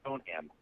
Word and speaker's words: Stoneham: The emphasis on the ham is Stoneham. I just always said it's Stoneham.